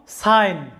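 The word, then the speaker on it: sign: একইভাবে এই শব্দটি দেখো সাইন লক্ষ্য করো সাইন এখানে কি আছে যে এস আই এন সাইন জি এর উচ্চারণটা এখানে সাইলেন্ট আছে অর্থাৎ জি এর কোনো সাউন্ড আসে নাই তবে জিটা অর্থ গঠনের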